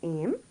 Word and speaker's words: aimes: subject is to, is aim. It's pronounced the same way, don't mind the S, aim. A-I-M-E-S.